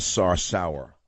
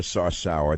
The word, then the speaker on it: Sarsour: si R sou our emphasis on the last syllable of her last name Linda sauce our Linda sauce our there's more than sourness